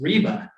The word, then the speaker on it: Riebe: new collection of comics and writings by Ernest reeba as one of our German friends helped us with the pronunciation uh of his name here uh here